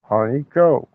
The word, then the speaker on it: Honeyko: That is spelled Honeyko. Honeyco.